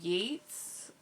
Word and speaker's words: Yeats: Yeats, I believe it's pronounced, but he's an Irish poet, and this is like a pretty thick collection of like all his poems.